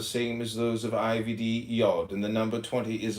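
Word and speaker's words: יוד: Comment on y pronounced yod transcribed as I y I am the link between comment on yod y o pronounced yodi transcribed as I y the number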